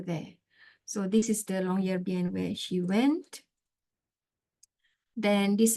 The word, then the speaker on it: Longyearbyen: Actually, the right pronunciation is Longyearbyen, Longyearbyen.